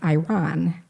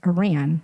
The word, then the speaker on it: Iran: for pronouncing his country wrong because Adams was pronouncing it as Iran right and it's Iran no it's Iran not Iran even I say